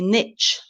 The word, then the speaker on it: niche: believe will be successful so Niche is the is sound for British and Niche for the USA okay so niche in